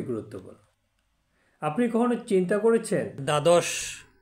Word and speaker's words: দ্বাদশ: আপনি কখনো চিন্তা করেছেন দ্বাদশ দ এ ব ফালা রয়েছে কিন্তু ব ফালা কোন উচ্চারণ নেই আবার উদ্বেলিত শব্দে দ